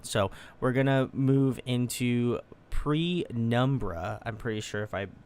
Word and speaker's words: Penumbra: This one's called Penumbra. I did pronunciate it right.